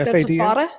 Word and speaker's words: FADA: Dad, Andy, here's how's it pronounced? F-A-D-A?